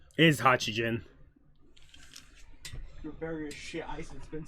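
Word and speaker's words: Hachigen: Or however you pronounce his fucking name, because I can't remember it right. It is Hachijin.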